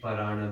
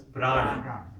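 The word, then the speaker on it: प्राण: So that Parana, there's no Parana, it's Prana. But to fit the rhythm, then you add an to that Parana.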